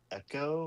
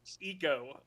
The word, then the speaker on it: Eco: Is it like echo or echo? It was that sounds stupid. Eco. Eco. Eco like ecological. Ecoological.